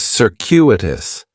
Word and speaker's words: circuitous: And circuitous has four syllables. And there's a few things going on with the pronunciation in the first syllable. That C is going to have more of an S sound. Circuitous. The stress is going to be on that second syllable. And that cu is kind of like you're saying the letter Q.